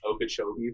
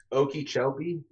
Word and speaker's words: Okeechobee: floridian trying to pronounce okeechobee for the first time oh my gosh what's the worst you've heard probably okie shelby i've heard of okacha obi there's an extra o in there or would they put